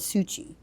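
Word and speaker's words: Syucy: and her name i it's s-y-u-c-y i've pronounced it as sushi and in the commonwealth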